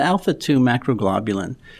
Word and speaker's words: alpha-2 macroglobulin: about a2m and do you know how to pronounce it because i don't yeah alpha2 macroglobulin there you go so alpha 2 macro globulin